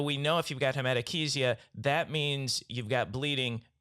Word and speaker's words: hematochezia: It's actually pronounced hematochezia.